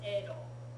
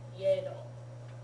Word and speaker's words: Edo: it was known as Edo. I remember that. And there are places, I've seen text where it was spelled Yedo, but it was never pronounced that way in modern Japanese.